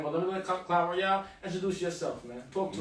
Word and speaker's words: Royal: It's pronounced Clyde Royale, though.